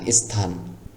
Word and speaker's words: স্থান: আছে নাথান প্রথমে এটাকে এস ধরবেন এসথান নাথান স্থান স্থানীয় এখানে এই যুক্তাক্ষরটি দেখুন এখানেও দেখতে মনে হচ্ছে একটি হ আছে কিন্তু মজার বিষয়টি হল এখানে হ উচ্চারণ করা যাবে না।